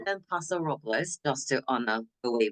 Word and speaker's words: Paso Robles: Los Angeles it's pronounced Los Angeles uh it's pronounced pasor robels because that's how we do it or just